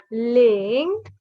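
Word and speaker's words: 零: Ling Ling. Okay, this is the second tone, and your pitch rises. You go from low to high.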